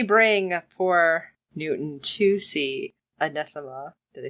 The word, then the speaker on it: Anathema: But when they bring poor Newton to see Anathema, did I say it right this time?